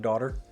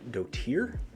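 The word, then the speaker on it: dottir: so i'm playing slug daughter i always pronounce this slug dotier but d-o-t-t-i-r is pronounced daughter if you did not know that so slug daughter the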